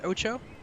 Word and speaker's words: OTXO: the mansion so yes that word is pronounced Ocho apparently had uh get that